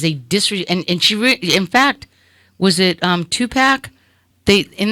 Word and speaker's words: pho: No, I thought it was faux. It's fa. Pho. Right.